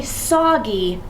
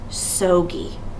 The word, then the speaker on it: soggy: This is that doubling rule that we always have to remember, that when I have two syllables, I need to make sure that I add a keeper consonant to keep my first vowel short. I want it to say soggy, not sogy.